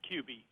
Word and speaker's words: Kube: guests Ron Carter and Rene Cube am i pronouncing that correctly its QB QB thank you QV Rene QB thank you